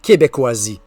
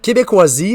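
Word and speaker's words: Québékoisie: Euh, tu vas vivre toute une aventure en plongeant dans Québecisie qui s'écrit donc Q U e B e K o I s I e. Référence ici à Québec avec des cas. Donc, Québécoisie réalisé par un couple de voyageurs à vélo.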